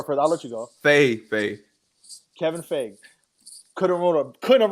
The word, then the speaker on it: Feige: How you pronounce it? Sorry, drink your water first. I'll let you go. Feige.